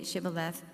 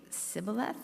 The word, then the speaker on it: Shibboleth: If he answered no, they said, "All right, say Shibboleth." If he say Sibboleth, because he could not pronounce the word correctly, they seized him and killed him at the fords of the Jordan.